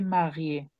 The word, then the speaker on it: marié: está casado, elle est mariée, ella está casada. Aquí le agregamos una E porque la E está acentuada. Cuando la E está acentuada, sí se pronuncia. Por eso aquí es marié.